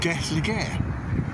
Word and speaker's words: Gelligaer: in the village of gu Le or guest le as it can be pronounced um uh if you